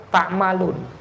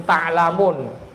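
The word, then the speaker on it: تعملون: Di antaranya firman Allah, watilkal jannatullati urtumuha bima kuntum tammalun. Jangan sampai keliru kepalik bacanya bima kuntum taklamun. Ini ayat ini berbicara bima kuntum tammalun. Mimnya dulu baru lam, bukan lam dulu baru mim.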